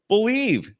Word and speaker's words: BLEAV: Head to BetOnline today and don't forget to use the promo code BELIEVE, BLEAV. It's the name of the network. It's spelled uniquely.